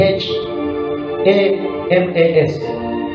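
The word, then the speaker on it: chamas: violence come from the Hebrew word Hamas c h a m a s which is pronounced in in Hebrew as k h a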